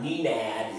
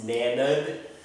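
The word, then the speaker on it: Nenad: It's not Ninad, it's Nanad. Miloš, it's not Milos, Miloš, because the I is an E sound.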